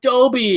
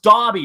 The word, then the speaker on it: Dobby: me when some of the kids were like toby i'm like no it's pronounced dobby not dobby anyways enough of my rant i